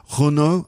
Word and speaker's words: Renault: around france in a renault and yes we do say in english renault in french rno i think it is um anyway